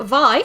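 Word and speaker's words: Vay: But tonight, the first game we're looking at is called Vai. It's spelt Vei, V-A-Y.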